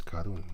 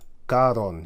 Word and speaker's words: Karun: Karon. He says, but it's actually karun.